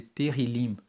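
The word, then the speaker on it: tehilim: Tanto que no hebraico, no texto original da Bíblia, o livro de Salmos, ele é chamado de terilim. Se escreve T E H I L I M.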